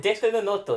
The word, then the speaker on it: Death Note: Desunoto, that's how you say it.